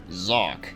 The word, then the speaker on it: Xak: a spin-off to a series called zock yeah like would you ever figure it out just by looking at this name that it would be pronounced as that yeah well apparently that's